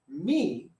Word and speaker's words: mi: If M-I is pronounced me, if we say it like me, right?